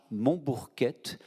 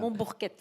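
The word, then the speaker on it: Monbourquette: Il s'appelle Jean Montbourquette. Oui, il n'y a pas de T, là, vous voyez, mais c'est comme ça. Sinon, c'est cette prononciation bizarre.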